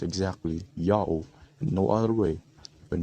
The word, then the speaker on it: Ya'oh: God's name is pronounced Yao according to this inscription and to the other sources that we will discuss later.